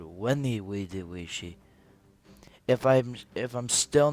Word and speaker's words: Veni, vidi, vici: few of my subscribers i've been pronouncing um the title of my campaign wrong i was called it benny vidi vichy but then i found out that it's called wendy we did she if i'm if i'm